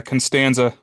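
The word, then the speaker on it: Constanze: Yeah, Constanza. Oh, like George.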